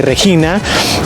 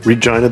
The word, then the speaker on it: Regina: They make the classic joke about being the Regina, the city that rhymes with fun.